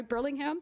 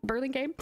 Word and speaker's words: Burlingame: in a One-Stop environment Catalyst will be in pronounce the city's name sorry Burlingham Burlingame South of San Francisco on June 27th and